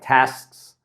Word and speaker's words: tasks: a little speaking hack a pronunciation hack real quick is for things like tasks uh wrists uh any sort of plural sks sts just cut off that consonant test and extend the s right ask a question